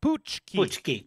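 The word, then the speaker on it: pączki: pki poki psky pki p psky yeah it it's spelled p a c k z i I think pki pki pki pki pki poochki po po wow wow this is education yeah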